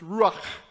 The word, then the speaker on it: ruach: Breath is a word that in Hebrew, it's ruach. You got to do that kind of sound at the end that I can't do very well.